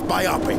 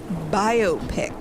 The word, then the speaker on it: biopic: my ship the SS biopic a vast it's actually pronounced biopic no you Dingus it's biopic who the hell says that it's biopic because it's the words for biography and picture if you all right